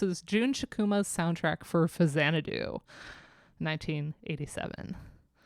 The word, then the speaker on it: Faxanadu: This is Jun Chikuma's soundtrack for Fazanadu, 1987. I said it right. I didn't say Faxanadu, which is what we like to call it on stream. Fazanadu.